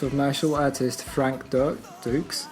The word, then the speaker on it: Dux: martial artist Frank Duck Dukes. I keep when I read it, I kept wanting to say ducks. Yeah, cuz it's written dux, isn't it?